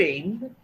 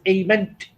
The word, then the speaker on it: aiment: Tu aimes, you love, informal.